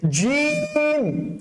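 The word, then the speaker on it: ج: আলিফ, তারপর হচ্ছে বা, তারপর হচ্ছে তা, তারপর হচ্ছে সা, তারপর হচ্ছে জিম, ঠিক আছে স্যার? জিমের ক্ষেত্রে কি হবে? এই জিমটা হচ্ছে আপনার বাতাস বের করা যাবে না, শক্ত করে উচ্চারণ করতে হবে।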